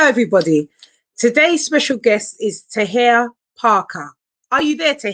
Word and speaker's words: Tahir: thank you for joining me today have i pronounced your name right is it tahir you did you did perfect i have so